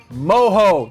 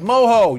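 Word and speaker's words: mojo: butt we marinated in moho that's right moho you know how to pronounce it not even know how to spell it oh m-o-j-o moho so you can buy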